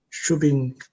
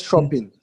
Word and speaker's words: chopping: It's not shopping. It's chopping. Because if you say shopping, then shopping is S H O P I N G is shopping.